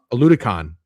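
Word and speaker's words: Oladokun: They played Aladucan. Is that how you say his name? Aludicon. Yep, played Aludicon.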